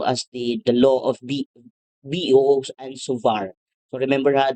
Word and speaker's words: Biot: the the law of boo and sovar so remember This is not biot and savart this is law of bo and sovar so we have here